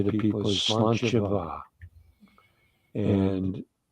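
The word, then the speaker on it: sláinte mhaith: For instance, something I often say to people is slanchava, and it's Irish for good health, but slancha is spelled S-L-A-N-T-E, and va is spelled M-A-N-H-A-I, no, M-A-I-T-H, M-A-I-T-H, and it's pronounced va.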